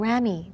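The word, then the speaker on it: ramie: Thirdly, we also have something called rami. That tends to be maybe higher end sometimes. It's spelled R-A-M-I-E.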